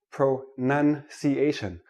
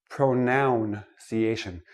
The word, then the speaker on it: pronunciation: start with this word pro none see asian not pronoun see asian it is not a pronoun a pronoun is I